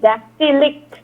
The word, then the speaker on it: dactylic: It is DAC, dactylic. DACTYLIC. Dactylic.